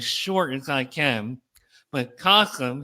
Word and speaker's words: Kasim: I'm going to try to keep it as short as I can, but Kasum, his name rhymes with awesome, and he is awesome.